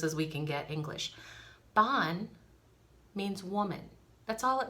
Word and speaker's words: Bean: in the closest as we can get english bon means woman that's all it means is i'm